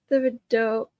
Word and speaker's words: Thibodeau: It's pronounced Thibodeau. No, that looks like the same spelling to me. But okay. Around Louisiana, the H is silent.